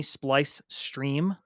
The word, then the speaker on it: Splice Stream: I'm also over on YouTube, where you can just find me, Splice Stream, rhymes with ice cream.